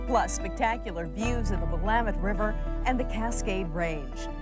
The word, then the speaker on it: Willamette: Notice that the correct pronunciation is Willamette, not Willamette.